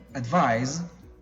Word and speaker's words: advise: now the first one advised means to offer suggestions or to recommend advice with the Z sound advice now the other one